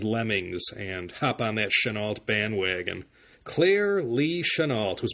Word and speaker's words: Chennault: story of General Claire Chennault. I think the correct way to pronounce it was Chennault, but all the newsreels and history documentaries call him Chennault.